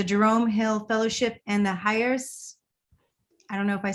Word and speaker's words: Hyères: Hill Fellowship and the Hyères, I don't know if I said that right, Photography Grand Prix. Do you know how to say it? Hyères? Here.